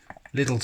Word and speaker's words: Lidl: Well, At Lidl, watch one of their UK adverts. They pronounce it Lidl.